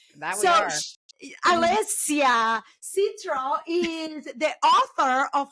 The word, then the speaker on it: Alessia: It's Alessia, like lace. Alessia.